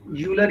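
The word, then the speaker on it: Euler: ये यूलर ही होता है यार, यूलर होता है, रूलर नहीं होता, यूलर। यू आप ई को साइलेंट कर दो, नहीं ई यू नहीं, सिर्फ आप यूलर कह दो, क्योंकि ठीक है।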